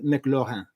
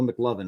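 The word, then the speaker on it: McLorin: Cécile McLaurin. Or Cecile McLovin, as I thought her name was the first time.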